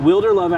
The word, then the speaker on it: Wilderlove: Wilderlove, like, yeah. And am I saying it right? You're saying it perfectly. Because a lot of people say Wilderlove. Yeah.